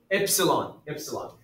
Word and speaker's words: epsilon: Epsilon.